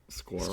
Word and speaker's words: squirrel: really relate to that maybe squirrel squirrel is squirrel hard to pronounce squirrel squirrel